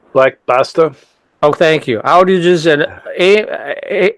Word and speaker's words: Black Basta: How's that pronounced? Black Basta.